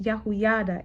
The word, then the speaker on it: Jehoiada: It's pronounced Yahuyada in Hebrew.